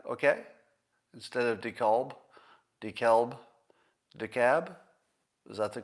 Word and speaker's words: DeKalb: If you put an extra letter in the spelling of your county, I'm going to pronounce it any fucking way I want. And I'm going to pronounce it with the L. Get rid of the L. If you don't want me to pronounce it the wrong way, get the L out of there.